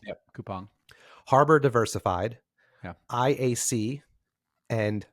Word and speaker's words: Coupang: Portfolio is Ally Financial, Coupang or Coupon, I've heard it pronounced both ways. Yep, Coupang.